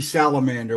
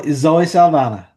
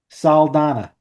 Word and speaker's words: Saldaña: I always call her Zoe Salamander. What's that girl's name? Zoe Saldaña. Salmana? Saldana.